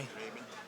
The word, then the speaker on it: Rabun: I was going to ask you how you pronounce the name of your high school. Rabun County? Rabun?